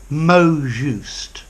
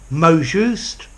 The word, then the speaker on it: mot juste: you could probably say mo juste yeah and then I would say bomb or or bond mo notice mo mo T in French the final consonant is silent so I'd say mo juste bond mo more just